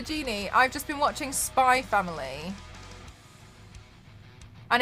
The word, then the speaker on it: Spy x Family: It's called Spy Family, but it's spelled Spy X Family.